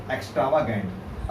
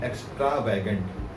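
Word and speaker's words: extravagant: और जो हमारा फिफ्थ वन है वो है माई फ्रेंड इज डैश एक्स्ट्रावागेंट। अब बहुत सारे लोग इसको प्रोनाउंस करते हैं एक्स्ट्रावैगेंट, एक्स्ट्रावैगेंट नहीं है ये, एक्स्ट्रावागेंट होता है फिजूल खर्च करने वाला।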